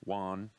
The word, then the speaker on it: Wang: Second day, Ching-Ming Wan, but it's spelled Wang.